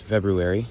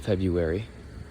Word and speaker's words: February: Fun fact, it is pronounced February, not February. It is pronounced as it sounds, but we don't say that because it's hard.